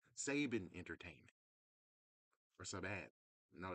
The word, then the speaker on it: Saban: It turns out it's not Sabons entertainment. It's Sabin Entertainment. That means haime Sabons is actually ha sin or Sabine but our biggest saving. So, we've been saying it wrong all these years. How in the world has it took 30 plus years to find out saying we were saying Sapans Entertainment wrong. It was Saban entertainment.